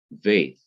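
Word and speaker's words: ב: example the consonant veith without the dot in the heart or the middle of it is to be pronounced as v or v such as in van so the sound of this is v as in but when it has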